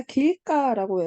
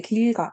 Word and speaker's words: 길가: 자, 길가라고 해서 또 길이라는 어근하고 가라고 하는 어근하고 결합해서 우리는 합성어 만드는데 그럴 때 길가, 자, 이렇게 안 하고 길가, 자, 이렇게 뒤에 오는 예사 소리를 덧내서 읽는단 말이야.